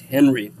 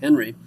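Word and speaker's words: Henri: the French on Glee he changed the spelling but not the pronunciation that's still pronounced Henry he changed it when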